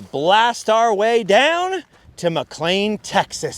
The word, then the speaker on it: McLean: Now McLean, or McLean, I've heard it pronounced both ways, was a town that